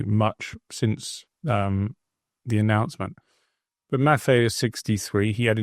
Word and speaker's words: Maffei: Am I saying it right, Joe? Maffei, yeah. Maffei, yeah, is leaving and is going to have a stand-in.